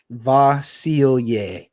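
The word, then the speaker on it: Vasilije: for the record Pro uh pro basketball reference pronounces it vasil vasil okay that makes uh yeah so per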